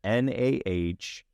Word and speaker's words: Nami: So we get the concept art for Chief Nami. That's spelled Nah-mee.